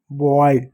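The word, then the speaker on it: boil: जैसे एक शब्द बी ओ आई एल बी को क्या पढ़ेंगे? ब पढ़ेंगे। बी खत्म। ओ आई को क्या? ओ पढ़ेंगे। ओ प्लस ए तो ओ की मात्रा लगा दिए और इ लिख दे रहे हैं। एल को ल लिखेंगे। हो गया बॉयल।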